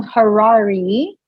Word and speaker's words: Harari: by going to Harari, right? I said it right? You said it right. It's like Ferrari with an H.